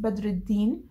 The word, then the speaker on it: Badreddin: lived in saudi arabia the name is correctly pronounced badreddin but he pronounced it in a really weird way he could have at